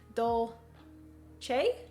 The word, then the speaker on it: Dolce: bean is fantastic Jeremiah I believe it's pers are pronounced Dole Che Dolce dulce de leche a